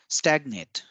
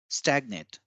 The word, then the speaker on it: stagnate: So as we see in stagnate, we give more stress on the first A as highlighted in red, and in stagnation, we give more stress on the second A as highlighted. So when the word changes from verb to noun form, the intonation also changes.